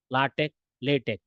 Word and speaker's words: LaTeX: as the MS word although it is written as L TX we have to pronounce it as a latch latch lat Tech okay so latch and